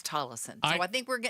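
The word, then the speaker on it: Tolleson: I always thought it was Talison, but apparently people say it's Tlison. Yeah. Well, some people and then other people say, "No, I live there and it's Talison."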